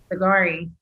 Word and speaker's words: Sigari: and how do you say your last name agari yes it means tobacco roller and persian because